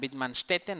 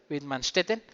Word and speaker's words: Widmanstätten: Una que se llama alitromorfa y Widmanstätten, que creo que en alemán se llama Widmanstätten o algo así. Se pronunciaría, sí, creo que mi alemán todavía funciona. Widmanstätten.